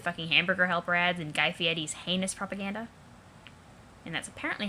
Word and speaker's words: Guy Fieri: Do you even have any machines that don't inundate you with fucking hamburger helper ads and Guy Fieri's heinous propaganda? And that's apparently how that's pronounced, which I always thought was weird.